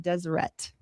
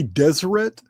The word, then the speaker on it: Deseret: He wants to have an independent state, the state of Deseret. All right. And the beehive. Did you say Deseret? I did. Spell that for me.